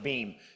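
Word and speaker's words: Boehm: It's B-O-E-H-M, but it's pronounced Beam.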